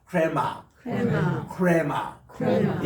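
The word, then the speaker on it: ῥῆμα: 그리고 이제 우리 흔히 했던 레마 할 때 보면은 이게 약간 이렇게 히읗 발음을 섞어서 흐레마라고 읽어주시면 좋습니다. 흐레마인데 히읗을 너무 강조하지 마시고 약간 히읗 섞인 발음을 한번 따라합시다. 흐레마, 크레마.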